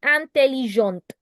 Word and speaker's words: intelligente: For feminine, it will be une fille intelligente. Do you hear the te in the end?